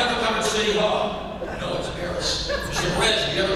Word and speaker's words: Beres: It should be pronounced Beres. Americanized it as Beres. But he insisted on it being Beres. Mr. Beres, have you ever come to City Hall? No, it's Beres.